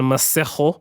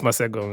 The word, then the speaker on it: Masego: There was also a remix with Alex Isley and Masejo. Masego. It's Masego. It's Masego. So what? And no, you're supposed to pronounce it Masego like that.